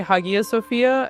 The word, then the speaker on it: Hagia Sophia: what I would call Hagia Sophia, but is my pronunciation abysmal? How should we say the name of the building? I say that's a perfectly fine pronunciation. I usually say Hagia Sophia and the thing is